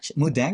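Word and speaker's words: Moo Deng: about animal influencers yes mang is mudang is how you pronounce it yeah it's actually getting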